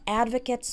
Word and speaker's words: advocate: it's pronounced advocate okay Kate at the end instead of kit so advocate is refers